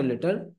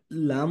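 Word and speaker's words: ل: এই যে লাম হরফটি জিহ্বার আগা অগ্র তালুর সাথে লাগিয়ে উচ্চারিত হয়, লা, লা।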